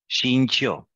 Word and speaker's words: 兴趣: 兴趣。兴趣。 Yes. Press the tongue down. 兴趣。兴趣。 Okay. 兴趣。兴趣。兴趣。 It's like all four tones, so you need to knock your head out 2 times.